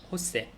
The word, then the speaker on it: José: 그래서 si me llamo José. Jos인데 J가 나오면은 히읗 발음이잖아요. 그래서 호세라고 하게 되는 거죠.